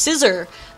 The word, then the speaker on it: Scissor: I'm getting word that is actually just scissor uh is how you say his name like a pair of scissors apparently who knew oh